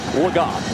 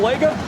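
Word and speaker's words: Legas: got the word that the preferred pronunciation of this quarterback is cooper lagott we've been saying lego a guy who wasn't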